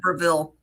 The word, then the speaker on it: Breville: I've always said Breville, and then you said Breville, and it makes me wonder, how I've do you say never it? heard Breville. Oh, so see, it's me that's wrong. Breville is how you say it.